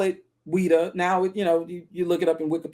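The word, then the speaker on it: Ouidah: Now they call it Ouida. Now you know, you look it up in Wikipedia, they spell it O U I D A H.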